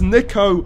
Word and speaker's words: Nico: Nico. They said my name wrong. I can't believe it. It's Nico.